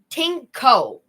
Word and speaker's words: dingo: The oldest remains of dingoes in Australia come from 3,500 years ago. H. Really? So the word dingo is in a from a language called drog and it is supposed to be pronounced tinko.